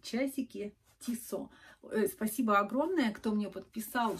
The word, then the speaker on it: Tissot: целых трое и часики tissot спасибо огромное кто мне подписал что читать не читается последняя буква т это швейцарские часы и